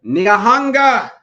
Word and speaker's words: Nyahanga: I'm gonna say it right, Nyahanga.